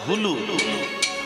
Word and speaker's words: উলু: আগে উলু না, উচ্চারণ তো হবে হুলু, উলু নয়।